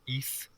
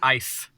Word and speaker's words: Ys: Bernard, you're pronouncing it wrong. It's obviously the Mask of Ys. No, it's Ice. The Mask of Ice.